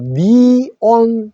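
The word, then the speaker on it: neon: 자, 그래서 네온 사인이라는 말은 영어에서는 이 소리로 니온 사인이라고 하시면 됩니다.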